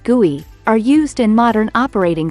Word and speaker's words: GUI: Visual user interfaces or GUI pronounced guey are used in modern operating systems.